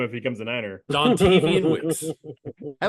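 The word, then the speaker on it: Dontayvion Wicks: Devontarian Wicks. Yep. I don't know if there's any truth. You're going to have to learn how to say his name if he becomes a Niner. Dontavian Wicks.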